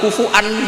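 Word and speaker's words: كفوا: Maka sebagian qiraah rata-rata qurra sab'ah itu bacanya walam yakullahu kufu'an, masih pakai hamzah karena ini maknanya mukafaah, kafaah. Yang baca kufuan diganti wawu, hamzah diganti wawu itu minoritas, termasuk qiraah kita Imam Asim.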